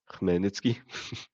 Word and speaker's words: Khmelnytsky: For everyone who wanted to hear it, it's pronounced Khmelnytsky.